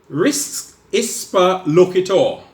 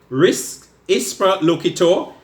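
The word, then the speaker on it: res ipsa loquitur: want to mention mention to you it's called risk is per look at all again risk is per look atoh it's spelled R is one word is P eh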